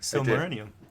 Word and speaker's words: Silmarillion: Or Cimmerillion. Yes. Fucking things. You said it right, though. Silmarillion.